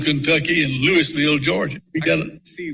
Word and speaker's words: Louisville: And Louisville, Kentucky, and Louisville, Georgia. We got to see those. There's different pronunciations.